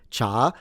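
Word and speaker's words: 茶: The Chinese in Mandarin pronounce it cha, second tone.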